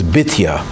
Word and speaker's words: Bitya: One of those is Batya. Although the correct pronunciation of the name is Bitya.